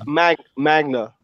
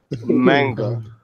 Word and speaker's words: manga: Magna. Am I saying it correctly? Manga.